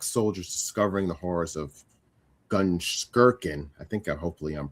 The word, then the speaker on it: Gunskirchen: Well, and you were close in your pronunciation. It's actually Gunskirchen, but Gunskirchen, okay. it's close enough.